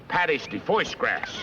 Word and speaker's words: pâté de foie gras: It's called pâté de foie gras. Pâté de foie gras. Oh, yeah, that's how they pronounce that.